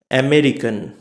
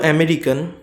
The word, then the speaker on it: American: আসতে চলেছি সেটা হচ্ছে আমেরিকান আমেরিকান এবার যেহেতু আমরা বলবো আমেরিকান এবার এই আমেরিকানটা আমেরিকানসটা নেটিভ আমেরিকান প্রোনাউন্সিয়েশনে কিরকম হবে সেটা হচ্ছে আমেরিকান আমেরিকান সেম জিনিস এখানে চারটে সিলেবেল আছে আরেকন আমেরিকারকে আমেরিকান এখানে